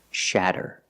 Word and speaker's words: shatter: And we see the fast D sound again, with a double T making the fast D sound.